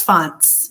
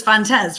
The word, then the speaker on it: Fontes: I think it's Fontes. Am I saying it right? Yeah, you got it right. I got it right. Everybody says Fontes, right?